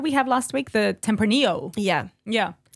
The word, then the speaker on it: tempranillo: have last week the tempranillo yeah yeah if you want to pronounce the l's go nuts tempranello cheese let's see back